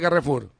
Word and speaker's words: Carrefour: A ver, primera pregunta, ¿cómo se dice Carrefour? Carrefour. Carrefour, está bien. Muy Tenemos que bien, aprender porque, está viste, bien, acá decimos Carrefour, ¿no?